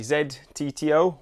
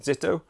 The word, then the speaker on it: ZTTO: so the cassette that i've got here is a zed tto or maybe you'd want to pronounce it zitto this is a road cassette and the version i've been testing is 11 to 32.